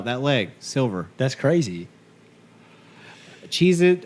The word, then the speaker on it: Cheez-It: Cheez-It or Cheez-Its? Oh, dude. It's Cheez-It. Yeah, there's no Z at Yeah.